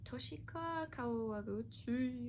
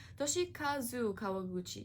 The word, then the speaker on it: Toshikazu Kawaguchi: Next up, we have Before the Coffee Gets Cold by Toshika Kawaguchi. Oh my god, I don't know how to say his name. Toshikazu Kawaguchi.